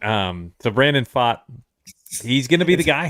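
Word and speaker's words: Pfaadt: so I was like it just kind of sounds like a fart in it that's how it's spelled PFA a DT it sounds like he farted um so Brandon fought he's gonna be the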